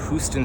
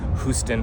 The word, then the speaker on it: Houston: But the named streets only exist below Houston or Houston Street, as it's now pronounced.